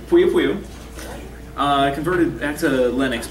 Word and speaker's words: poiupoiu: I pronounce it Poiupoiu.